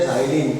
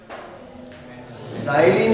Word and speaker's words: xylene: इसको बोलते हैं ज़ाइलीन। क्या बोलते हैं? 2 CH3 हो गए, ज़ाइलीन। X से स्टार्ट होगा स्पेलिंग, XYLENE, ज़ाइलीन, ज़ाइलीन।